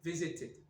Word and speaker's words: visited: Donc on va être obligé de rajouter le son I entre les deux pour faire. Donc ça va rajouter une syllabe et visit donnera visited.